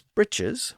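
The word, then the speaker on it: breeches: in the plural as breaches and of course we still have that term today some people pronounce the word as britches with a slightly different vowel but it's the same word it isn't really clear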